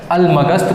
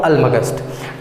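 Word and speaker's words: Almagest: है जिसका नाम है अलमगस्त भी बोलते हैं, कभी कभी अलमजस्ट भी बोलते हैं। स्पेलिंग ये है अलमगस्त, मैं बोलता हूँ अलमगस्त।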